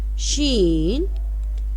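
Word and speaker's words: شین: Sheen, SHEEN, sheen. Sheen is sound for SH, means yani she. SH, softly SH sound.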